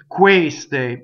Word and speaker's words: queste: Ah, yes, there's a closed one on the stress. Queste. You see, the stress is on the E, but it's closed.